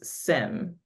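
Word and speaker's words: SIEM: plus replace my customers's sim no I hope I'm saying that correctly you are yeah Sim yeah yeah because i' I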